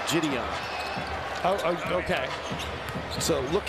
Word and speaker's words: Jidion: Marty there she knows it's jyon jyon is how you say his name jyon oh oh okay so